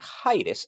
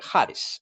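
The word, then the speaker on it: ᾍδης: y no se dice haides si no se dice Hades lleva un espíritu que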